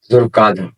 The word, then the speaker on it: ذوالقعدہ: بھی کہا جاتا ہے۔ ذوالقعدہ 2 لفظوں سے مل کر بنا ہے، ایک ذو اور دوسرا القعدہ۔ اس کا درست تلفظ ہے ذوالقعدہ۔ ذوالقعدہ کی حرمت کی